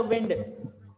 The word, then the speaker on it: wind: सबसे पहली बात, ये वाइंड नहीं है, कई सारे बच्चे बोलते हैं इट्स अ विंड, वाइंड इज a wrong pronunciation. समझ में आया? सभी लोग ध्यान से कान खोल के सुन लीजिए, इट्स अ विंड नॉट वाइंड।